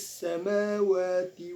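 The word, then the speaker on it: السماوات: Nah, di sini ada hukum bacaan mad tabi'i. Mengapa? Sebab huruf waw dan mim berharokat fathah berdiri. Fis samawati wa ma fil.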